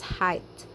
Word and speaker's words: height: Quite differently again is height, which sounds like bite, indite, and light.